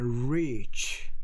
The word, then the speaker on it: reach: 이 발음하고 이 발음 앞에 있는 rich, 그거는 약간 짧게 발음한 거야. He's rich. 뒤에는 reach. I can't reach.